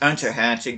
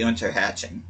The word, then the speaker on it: Unterhaching: I think it's actually supposed to be pronounced Unterhaching, because I don't think there's an umlaut over the U in Unterhaching. I think it's actually supposed to be Unterhaching.